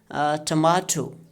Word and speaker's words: tomato: This is pronounced as tomato. There are three syllables. You can see here. So syllable number 2 is stress. Okay, but we are going to drop it. See now, tomato.